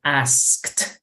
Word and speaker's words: asked: Entonces, si yo digo asked, esa es la pronunciación correcta, pero cuando hable rápido, intenten solamente pronunciar asked como si dijeras asked, asked, sin la K.